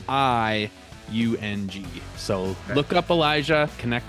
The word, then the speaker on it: Iung: And for people listening, so Elijah, Elijah, and your last name is Iung, pronounced Young, but it's Iung.